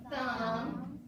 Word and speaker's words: thumb: And then, so we just remember the letter B can be silent. Here we go. 1, 2, 3. Read with me. Comb, limb, tune, crumb, plumber, dumb, lamb, numb, climb, thumb, doubt, womb.